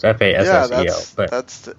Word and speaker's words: Fassel: It's Fassel, I think, is how you say his last name. It's Fassel.